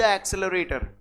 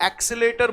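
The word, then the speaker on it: accelerator: Is made by द एक्सेलरेटर। गाड़ियों में जिसको आप एक्सेलेटर बोलते हो, वो लोगों ने फ्लुएंसी के चक्कर में एक्सेलेटर बोल दिया है। राइट प्रोनाउंसिएशन इसका जो होता है that is एक्सेलरेटर। गॉट it everyone?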